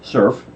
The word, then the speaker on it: SRRF: references for ser RF which then nearly is surf pronounced it correctly so it can be served that